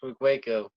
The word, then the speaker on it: Wikweko: I want to thank Sean Wickwako. Did I pronounce it correctly? Yes, Wickwako.